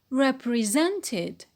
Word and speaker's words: represented: And when it is in the past, it becomes represented, represented. So how many syllables? Yes, 4 syllables.